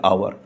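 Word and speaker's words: hour: से ही शुरू हो रहा है यहाँ पे आवर, लेकिन क्या है?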